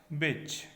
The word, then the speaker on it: bitch: इसमें टी जो है वो साइलेंट है, टी की साउंड नहीं निकलेगी। ओके, तो BICH की साउंड निकलेगी केवल, स्पेलिंग BITCH होती है, बिच।